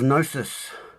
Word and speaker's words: gnosis: So gnosis, a definition of gnosis, with a silent G.